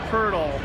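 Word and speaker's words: Pöltl: youth Jakub hurdle Dinoco hurdle okay so his last name rhymes with turtle doesn't look like it though no definitely not you're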